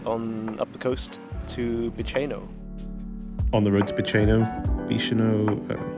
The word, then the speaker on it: Bicheno: time to check on how to actually pronounce where we are. In the seaside village of Bicheno. What is it? Bicheno. Bicheno. So Bicheno, apparently.